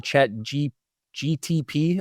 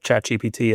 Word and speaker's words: ChatGPT: Other people are just like, "What is the chat G GTP?" I've heard that one a lot. GTP? And I'm like, "You don't even say it right.